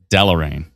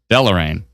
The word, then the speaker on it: Deloraine: See, Patricia, how you phonetically spelled it out was Del and then or, O-A-R, and then dash rain. So Del or rain. Whereas I think maybe the Delo, like D-E-L-O dash rain, would make sense.